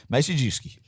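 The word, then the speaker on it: Maciejewski: It's like a couple of words all in one, like Macy, and then you got Jew, and then ski. Like ski. Yeah. Break it down in 3 syllables and you got it.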